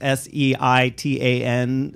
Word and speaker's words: seitan: Is it the, and I don't know how to pronounce this, I think it's S-E-I-T-A-N, seitan?